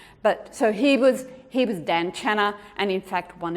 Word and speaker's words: Tan: So my great-grandfather was T-A-N-C-H-A-N, which in Chinese the T is more like a D, Dan, which easily becomes Daniel, right?